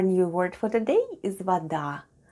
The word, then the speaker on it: вода: And one more new word for today is вода. Вода, вода. Вода is water in Russian. Let's spell the word вода. The first sound is v, then we have letter o, which is pronounced as a when unstressed.